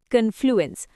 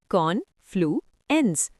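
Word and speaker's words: confluence: पहला वर्ड है कन्फ्लुएंस। प्रोनाउंस करो कॉनफ्लू एंस।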